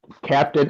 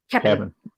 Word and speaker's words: Cap'n: I am eating Captain. Oh, I'm sorry. Cap'n. Yeah, say it right. Cap'n Crunch. Cap'n. Only the Cap'n.